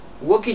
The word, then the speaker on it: walkie: Walkie talkie, no se pronuncia la L.